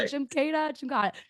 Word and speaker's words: Jimkata: Am I pronouncing it correct? JIMKATA? You got it. Yeah. I was like, right. JIMKATA.